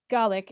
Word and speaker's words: Gaelic: She's informed me that Scottish Gaelic is pronounced Gaelic and not Gaelic, as I was saying.